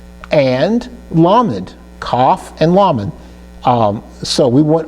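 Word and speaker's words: כף: That Kaf can also be pronounced Haf, depending on if it has the dogish in it, okay? So if the Kaf has a dogish in the middle, it's pronounced Haf, okay? If it's missing the dogish, it's pronounced Kaf.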